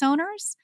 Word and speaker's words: ONR: It's called Owner. It's spelled O''NR.